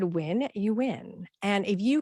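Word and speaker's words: Nguyen: this Vietnamese last name is it endgame noon when our new win so if you said win you win and if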